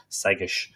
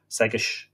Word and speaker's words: Segais: Segais is how it's pronounced. Just think of something like S-E-G-G-I-S-H will do it. Segais, you know, Segais.